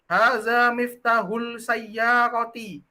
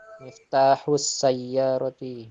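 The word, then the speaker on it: مفتاح السيارة: Jadi bacanya Miftahul Sayyarati. Harusnya Miftahus Sayyarati. kenapa kok dibacanya miftahus sayyarati? Karena alif lam syamsiyah. Hurufnya samsiyah. Jadi kalau ada orang yang salah baca langsung diperbaiki.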